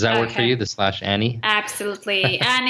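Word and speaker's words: Ani: Does that work for you, the /Annie? Absolutely. And it's spelled A-N-I.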